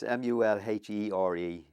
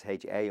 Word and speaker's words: Mulhare: Yeah, she was a Mulhare, and Mulhare's, it's Mulhere, because a lot of people think it's Hare or Hair. It's Here, the same pronunciation.